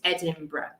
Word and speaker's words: Edinburgh: of scotland okay so this word is the same thing as worcestershire sauce let's give us edinburgh edinburgh